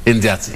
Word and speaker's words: Indiatsi: And of course, she is known as Afandi Indiatsi. Indiatsi, yes. Yes. You pronounce it well. Indiatsi. Yes. I pronounce it well.